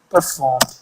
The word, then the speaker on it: performed: it in the end just ignore the e so for example if you have got this performed don't say performed just say performed e is silent performed that's the technique